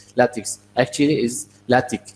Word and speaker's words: LaTeX: latex I mean then the second part is not takes its tick so this is common